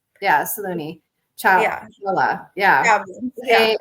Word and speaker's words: Saloni: how do you say your last name yeah Salone yeah a l o n i c h